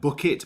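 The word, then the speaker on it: Bucket: Her name was like Bookit, which is like it's pronounced bouquet.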